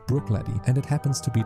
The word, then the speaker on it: Bruichladdich: This time pronounced Bruichladdich and it happens to be the resident rebel of the whole island.